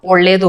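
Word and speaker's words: ಒಳ್ಳೆಯದು: तो इसको या को हम साइलेंट कर देंगे या स्किप कर देंगे, बोलेंगे ओल्लेदु।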